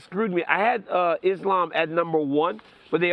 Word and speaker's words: Islam: wrong the whole time is his name Islam or is Islam cuz you're saying lamb that well that's what